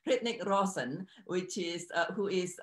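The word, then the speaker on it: Hrithik: I believe the first name's pronounced Ritnik. I might butcher that. Ritnik Roshan, which is who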